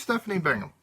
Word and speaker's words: Stephanie Bingham: Is it Stephanie Bingham? Is that how you pronounce it? Yes, it is. Okay, so who is Stephanie Bingham?